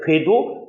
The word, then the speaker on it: 궤: 이것을 발음을 잘하기 위해서 어떻게 되는, 이게 복모음이에요. 모음이 몇 개 있다? 우 플러스 어 플러스 이 따라서 우어이 우어이 우어이 우어이 우어이 괴 이러면 발음이 여기에 풀렸기 때문에 정확히 나와요.